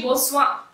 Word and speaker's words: boatswain: bonsoir so this is the usual pronunciation of boatswain is actually boasts one so he said he